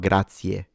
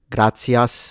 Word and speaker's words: grazie: Make sure you don't pronounce it grazie or grazies, gracias, because that's kind of a mixture between Spanish and Italian. It is grazie.